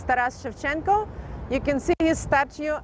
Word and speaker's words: Taras Shevchenko: How to pronounce it? Taras Shevchenko.